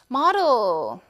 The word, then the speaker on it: model: model. model, 모델이라고 한다는 있잖아요. 영국 발음. Model. 그쵸? 오를 오로 발음해서 D를 D로 그대로 발음을 해서 model 이런 것까지.